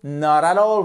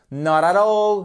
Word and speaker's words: not at all: d'accord not at all not all voyez comme je fais la prononciation tout d'un trait comme si c'était un seul mot not all not all not all